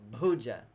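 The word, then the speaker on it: bhuja: okay pooja beard asana pooja hands but it's not Buju pooja it's pooja and peterson okay we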